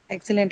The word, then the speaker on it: excellent: Excellent is what it is Yeah. again, an adjective, right? Excellent. So on the first syllable, right?